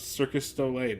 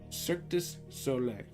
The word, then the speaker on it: Cirque du Soleil: And honestly, I never thought I'd say this, but I really love Circus Soleil now. Circus Soleil? Is that how you say it? Okay, I can't hear this with my headphones. Cirque du Soleil.